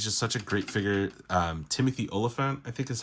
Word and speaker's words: Timothy Olyphant: Timothy Olyphant, I think is how you say the actor's name, did such an excellent job portraying the character.